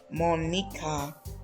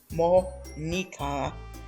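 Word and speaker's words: Monika: Monica, as we would say her name in English, actually it would be roughly the same as Japanese as well. Monica.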